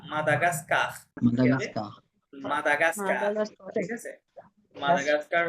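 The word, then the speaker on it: Madagascar: না, মেদাগাস না, তিনটা আ আছে না, মেদাগাস্কার। তিনটা আ, তারপরে মা দা গাস গা, মা দা গা, মাদাগাস্কার, মাদাগাস্কার।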